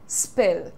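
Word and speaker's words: spill: स्पिल the beans, pronunciation तो आसान है इसका, स्पिल, स्पिल नहीं होगा, स्पिल नहीं, आपको स साउंड को पहले रखना है। स्पिल, स्पिल, स्पिल, स्पिल।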